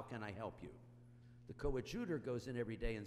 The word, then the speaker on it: coadjutor: By the way, she pronounced it well, coadjutor bishop.